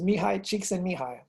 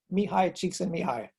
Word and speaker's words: Mihai Csikszentmihalyi: His name is Mihai Csikszentmihalyi. And so that's a really interesting pronunciation for all those letters together. And so that's what it says, Mihai Csikszentmihalyi.